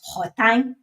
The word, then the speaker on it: Worten: So what you need to do is go online to someplace like Wharton, Worten, which they pronounce Wharton, to Wharton or someplace